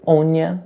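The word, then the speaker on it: Áine: Os irlandeses faziam rituais em honra à deusa fada Éine ou Ónia, na sua pronúncia original.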